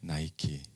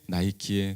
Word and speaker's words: 나이키: 우리가 너무나 잘 아는 스포츠 의류용품의 나이키. 이 뜻은 빅토리입니다. 승리입니다. V자를 마치 운동하며 달려나가는 것처럼 표현한 로고죠. 이 나이키는 헬라 신화에 나오는 리케의 영어식 발음입니다. 리케를 영어식으로 발음하면 나이키입니다. 헬라 신화에 나오는 이 리케는 승리의 여신이죠.